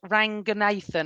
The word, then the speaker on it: Ranganathan: My one is Ramesh Ranganathan. I hope I said it right. I Done well. absolutely love him. Did I say it right? Yeah. Ramesh Ramesh Ranganathan, Ranganathan.